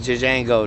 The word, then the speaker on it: Django: He says, "My name is Jjango. The J is silent.